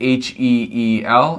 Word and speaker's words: heel: h-e-e-l and h-e-a-l and you say both of those words the same way heel h-e-l talking about the bottom part of your foot and heel h-e-a-l meaning helping someone recover from an injury um they're both pronounced the same way heal and heal so that one's easier